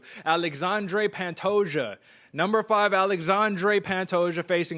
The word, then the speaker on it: Alexandre Pantoja: number five i mean i'm gonna show you how to pronounce it right here aj i got you alexandre pantosia number five alexandre pantosia